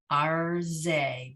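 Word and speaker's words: ארזי: Arze, because right, the shva under the resh is the end of the consonant, so it doesn't get any sound at all. Is the end of the syllable, excuse me, arze, right?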